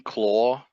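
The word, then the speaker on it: Klaww: boss battle is scroll you mean claw oh did I say scroll my bad you did say scroll claw claw it's spelled so weird yeah well it's just got two W's that's not it's got a k oh okay sorry the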